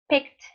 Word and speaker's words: picked: and this it D it's pronounced like that like a T so the sound of